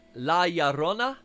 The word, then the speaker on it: La Llorona: So I gotta pronounce that correctly. Take it back. La Llorona.